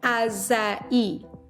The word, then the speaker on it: açaí: aa hm AA that's how you say it ASA e all right repeat after me ASA e so